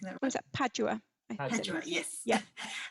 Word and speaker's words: Padua: um nicole asks about the botanical garden in perdue usually i don't know if i'm pronouncing that what's that padua yes yes how was it arranged at that